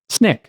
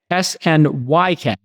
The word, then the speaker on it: Snyk: Snyk? Snyk. S-N-Y-K. So the Y is an I. Snyk. And no C.